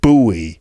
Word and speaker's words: buoy: was knocked out by Sarah's pronunciation of the word boy which is a kind of inflatable thing that goes in the water in a lake or in the sea that's a boy b o u y uh she pronounced it buoy which you know I